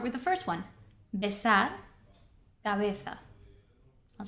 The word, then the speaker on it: cabeza: understand correctly, is that the letter, the same letter, the B, is actually, we're pronouncing it differently because it's coming in a different part of the word.